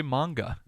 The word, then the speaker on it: manga: anyway uh what are Japanese Comics called uh manga it is actually manga manga how about the cyberpunk PC game uh